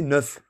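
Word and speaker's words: Neauphle: le château 9 9 9 ça s'écrit nous souffle néofle mais c'est neuf on dit 9 neufles le château tu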